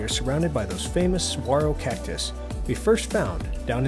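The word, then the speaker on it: saguaro: noticed that we are surrounded by those famous swaro cactus we first found down in Baja Mexico some years ago that's right I pronounced it right this time and speaking of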